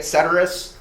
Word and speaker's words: Ceterus: the name come from first you say it cerus uh not cerus or whatever um horrible name Choice by